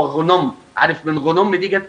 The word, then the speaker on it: غنم: اسمه غنم. الأجانب بنطقوه خنم بالخاء، لكن هو غنم.